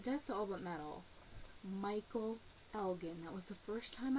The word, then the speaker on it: Elgin: And a lot of people said his name wrong. They say it Elgin. It's Elgin. He is at ROH Michael Elgin.